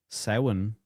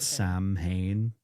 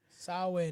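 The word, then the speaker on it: Samhain: a plan to resurrect the dark traditions of Sin is how it's pronounced in Ireland, but a lot of people call it Sam Hayne. Sin.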